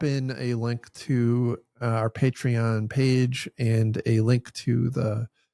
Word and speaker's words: Patreon: By the way, like I have fully changed over to pronouncing it correctly. Patreon.